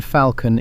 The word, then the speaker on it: falcon: The L in falcon is not old. French had faucon with no L at all. The L was put in during the same Latin fever that gave debt its B. It stayed silent for centuries. Today, almost everybody says it.